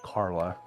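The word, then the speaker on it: Karly: random name generator said Carla. Um, so her name is Carla, but with like a k a r l y a strange spelling to it. Um, the y is silent.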